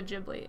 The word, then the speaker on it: Ghibli: Italian noun Ghibli, based on the Libyan Arabic name for the hot desert wind of that country.